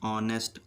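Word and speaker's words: honest: प consonant sound है एन ऑनेस्ट ऑ ओ की आवाज दे रहा है इसलिए एन ऑनेस्ट यहां पर बावल साउंड यानी स्वर की ध्वनि है ऑ तो इसलिए एन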